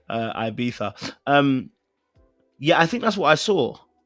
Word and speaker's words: Ibiza: And before Sean gets onto my neck, it's Ibiza.